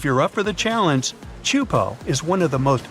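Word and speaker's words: Teahupo'o: the name it's itself is a mouthful is pronounced chupo and it means broken skulls in tahan yeah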